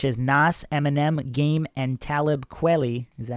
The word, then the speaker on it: Talib Kweli: many rappers such as Nas, Eminem, Game, and Talib Kweli. Is that how you pronounce it? Yeah, it's close. Talib Kweli.